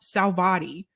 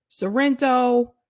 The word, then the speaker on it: Salvati: My last name is pronounced Salvati. For whatever reason, I've been called Saliva T, Sorrento, Slovecki, Sorrenti.